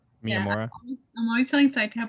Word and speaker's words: Miyamura: It's when Slave Girl comes to visit Hori and does the recognize how do you pronounce his name again? Miyamura. Yeah. Miyamura.